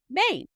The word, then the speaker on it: Maine: Maine. The E is silent.